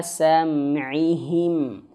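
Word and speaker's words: سَمْعِهِمْ: Qulubihim wa ala sam'ihim. Wa ala sam'ihim. Nah, ingat di sini. Di sini rentan sekali terjadi kesalahan. Jangan bacanya wa ala sam'ihim. Sam'ihim. Jangan. Sam'ihim. Sam'ihim. Mimnya jelas. Sam'ihim. Ya, jangan sam'ihim ya.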